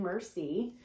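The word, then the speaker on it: merci: flash cards so it says thank you in french on the front and then it has the word and the pronunciation mercy uh and so i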